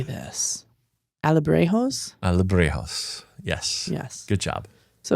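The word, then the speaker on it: Alebrijes: Alebrejos.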